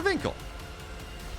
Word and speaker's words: Winckel: taking down mixu two it is Winkle or vinkle but I'm told uh that it is in fact Winkle so there you go